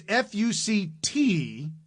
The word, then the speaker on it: FUCT: It's FUCT. Oh. Mind. Like expletive upped mind, but it's spelled. No K, but with a T.